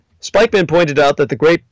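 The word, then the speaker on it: Spykman: During World War II, the Yale geopolitical scholar Nicholas Spikeman, surname spelled like spy, S-P-Y-K-M-A-N, Spikeman pointed out that the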